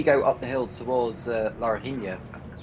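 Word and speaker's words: Laranjinha: I mean, when you go up the hill towards Larina, that's how it's pronounced, the uphill section before you go towards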